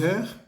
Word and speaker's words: heure: pronunciar la palabra heure, ahí hay una H, es una H muda, es decir, es como si no existiera, no se pronuncia.